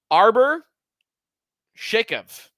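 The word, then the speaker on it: Arber Xhekaj: Arbor Shakov, I believe is how you pronounce it.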